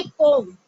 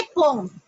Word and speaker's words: poem: तो हमारी जो पोएम है अब हम उसको प्रोनाउंस करेंगे पोम. ओके, क्या प्रोनाउंस करेंगे? पोम. अब ये चेंज आया है.